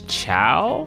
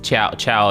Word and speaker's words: Chao: Also, my favorite vegan cheese right now is a mix between Follow Your Heart and I think it's Chow. Chow is really good. It's spelled CHOA. Oh, sorry, CHAO.